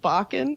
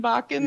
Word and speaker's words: Bakken: Is it? How's It's it go? sort of, it's pronounced Bakken. Like, Okay. Like rockin' Bakken.